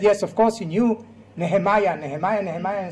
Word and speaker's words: Nehemiah: Actually, I said Nechemia, the right way to pronounce his name in English would be Nehemiah.